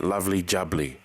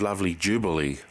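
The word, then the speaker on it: lovely jubbly: tricky I it's it's should be like that lovely jubly but on the mega drive it was mis misspelled and mispronounced as lovely Jubilee so I'm not sure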